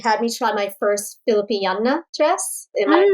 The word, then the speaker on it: Filipiniana: she had me try my first Filipiniana dress. Am I pronouncing it right?